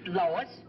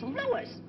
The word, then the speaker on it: Louis: the plant Lois Lois me name is leis not Lois Jak whz everybody intiates me name wrong it's Louis l o u i